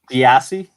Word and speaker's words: Giassi: Giassi. It's a hard G.